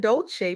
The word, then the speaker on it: Dolce: I'm Dolce, pronounced dolce like sweet softness whispered in French and I'm your host of the soft girl era podcast.